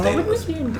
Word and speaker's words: Daedalus: I think I always just pronounced the name wrong. It's Daedalus.